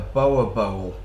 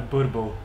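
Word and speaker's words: boerboel: got one, and I'd call it a boa bowl, but what's the proper way of saying it? A burble. Burble. So he's got burbles. Yeah. And these dogs, you've got to check them out. It's spelt B-O-E-R, B-O-E-L. B-O-E-L.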